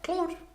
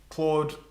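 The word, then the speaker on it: Claw'd: Come, Claude. Yes, come, kitty. Yes. Everyone say hi to Claude. Claude is spelled not like a human who would be named Claude, but CLAW apostrophe D.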